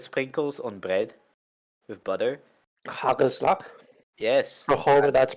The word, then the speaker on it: hagelslag: Hagelslag. Yes. For however that's pronounced. You want to have it on my best Dutch? It's hagelslag. And it's exactly what it sounds like.